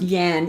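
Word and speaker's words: yang: either yin or yen yeah yeah yeah it's pronounced yan even though it's g well because it has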